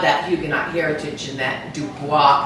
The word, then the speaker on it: DuBois: to me um this is Harry and Susan du Bo is pronounced Duo and not Dubois initially um he's from hugenot